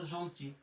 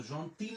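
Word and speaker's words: gentille: তাহলে উচ্চারণ হয়ে গেল জন্টি। আমরা যে বলি ইলে জন্টি, তো জন্তিল বলা যাবে না কিন্তু, হ্যাঁ, ইএল থাকলে রস্যিকার, জন্টি।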